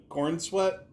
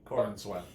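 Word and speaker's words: Corenswet: I mean, David uh Cornswe, did I mispronounce his name? Cornsweet.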